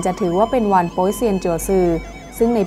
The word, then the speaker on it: โป๊ยเซียน: ตัว เอง และ ครอบครัว โป๊ยเซียน ออก เสียง ว่า ป่า เซียน คือ เซียน 8 องค์